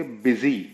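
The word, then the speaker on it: busy: बट लेकिन, यू की आवाज बहुत रेयर लेकिन ई के अंदर भी यूज होती है, जैसे कि बिजी, BUB और SY, बिजी।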